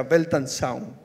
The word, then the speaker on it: Weltanschauung: En realidad se pronuncia Weltanschauung, algo así, no sé.